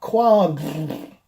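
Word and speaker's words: quomb: So basically it comes out like quab fart noise because you're trying to say all those different pronunciations of OMB at once, like womb and bomb and tomb and ohm.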